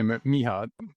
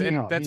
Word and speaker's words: Mircea: He just called me Miha. That's Miha. what anybody can manage.